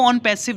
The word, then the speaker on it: ONPASSIV: So guys, सबसे पहला जो क्वेश्चन है ऑन पैसिव है क्या। बेसिकली इसको ऑन पैसिव नहीं ONPASSIV करके बोलते हैं, बट प्रोनाउंसिएशन के हिसाब से इसको ऑन पैसिव हम कंसीडर कर रहे हैं, ठीक है।